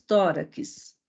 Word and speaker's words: tórax: Quando pronunciamos tórax, onde está a sílaba tônica? No tó.